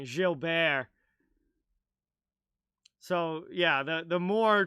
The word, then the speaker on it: Gilbert: the French pronunciation there Ace that's the French pronunciation Jill Bear so yeah the the more tra like American way of saying it would be Gilbert but the French pronunciation is Jil taken now